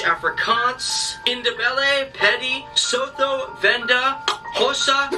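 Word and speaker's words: Xhosa: independent petty sotho venda hossa and that is jose with a click that's how you pronounce an x swazi that's tough that's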